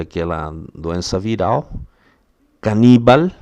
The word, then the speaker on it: caníbal: Caníbal, não é canibal, caníbal.